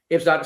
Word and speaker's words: Ibsdotter: How do you pronounce Inga's middle name? Ibsdotter? Ibsdotter. Ibsdotter.